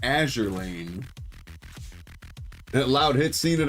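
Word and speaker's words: Azur Lane: Better make it double these going along with the NK and the uh Azour Lane. Azure Azure Lane. We figured out it is pronounced Azure Lane.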